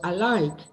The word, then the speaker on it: alike: But the word alike that Sergio has given, that is good because alike, there is no restriction imposed by any other consonant, and alike is clear. It's a clear L.